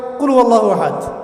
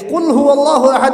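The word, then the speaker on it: قُلْ هُوَ اللَّهُ أَحَدٌ: আরেকটা সূরা পড়ে গেলাম কুলহু আল্লাহু আহাদ কি মানে কি এটা উচ্চারণই বা কেমন করে করতে হয় কুল বলুন হু আল্লাহু আহাদ তিনি আল্লাহ এক এই যে কুলহু আল্লাহু আহাদ অনেকে বলতে পারে না কুলহু আল্লাহ কুলহু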